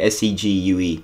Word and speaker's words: segue: segue those things you write no segue it's pronounced segue s e g u e segue I've never heard anyone pronounce it like